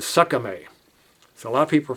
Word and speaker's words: SKMEI: It's the the brand name is s k m e i and some expert on the internet said that the way to pronounce that in Chinese is Sakame.